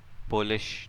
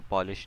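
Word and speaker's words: Polish: लोग क्या कहते हैं पोलिश नोटेशन भी कहते हैं इसको पॉलिश नहीं इसको पोलिश प्रोनाउंस करते हैं बिकॉज ये पोलैंड वाला पोलिश है ऑपरेटर प्रेसिडेंस ऑपरेटर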